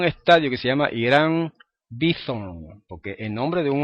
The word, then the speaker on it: Bithorn: mayoría de los puertorriqueños, la incapacidad de ellos en pronunciar la TH como la pronuncian los norteamericanos. Y allá para los norteamericanos lo correcto es decir Irán Bithorn. Para los puertorriqueños da igual decir Irán Beaton que Irán Bison.